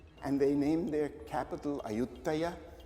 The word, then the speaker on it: Ayutthaya: And they named their capital Ayutthaya, which is of course the Thai pronunciation of Ayodhya, which is the Rama's capital.